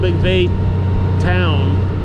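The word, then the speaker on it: McVeytown: little bit 0:03 on top of the video spell it correctly I can see on the map now the town's cold McVeigh town mcveigh town then I had their own what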